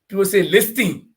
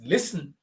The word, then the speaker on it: listening: the referral pronunciation because listing it's not listing it's not listing it's listening the t is very silent it's l-a-s-e-m listen I